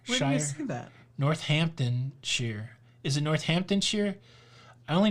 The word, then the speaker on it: Northamptonshire: you say it north do not say shire i see that northamptonshire is it northamptonshire i